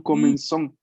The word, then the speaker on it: commençons: Porque recuerden que la cedilla se lee como nuestra S. ¿Mm? Entonces, nous comenzons.